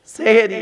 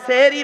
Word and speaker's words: সাহারি: সেহেরি। এ বাবা সেহেরি নয়, শব্দটা হলো সাহারি। দন্তেশ্বয় একার নয়, দন্তেশ্বয় আকার।